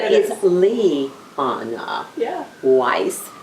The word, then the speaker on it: Weiss: is Lee uh-huh yeah Weiss like nice and despite the fact